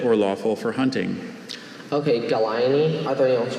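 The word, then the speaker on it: Gallinae: Okay, Galaini, are there any alternate pronunciations?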